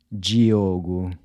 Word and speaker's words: Diogo: Diogo.